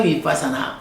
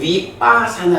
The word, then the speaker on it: 위빳사나: 타 위빠사나 보통은 위빠사나 이렇게 시옷 발음을 안 하는데 어 원어상으로는 빠하고 받침을 발음해 줘야 되죠.